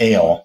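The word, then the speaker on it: אל: and the transliteration and the phonetics of AOL how it's pronounced L is the idea and uh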